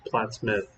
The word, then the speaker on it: Plattsmouth: glenwood uh plattsmouth uh plots mouth uh i think somebody said it was plattsmouth that's how they say it so i don't want